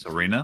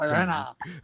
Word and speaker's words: Sirena: Serena? Yeah, I thought Serena. She is No, it's difficult to handle. Siren with an A at the end.